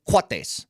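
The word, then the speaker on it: coatis: so it's spelled like Cody but they they pronounced them quates yeah it looks like a yeah it's like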